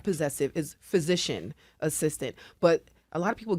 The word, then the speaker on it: physician assistant: And we joked a little bit um off air about how we pronounce PAs, right? It's not physicians assistant. It's not possessive is physician assistant.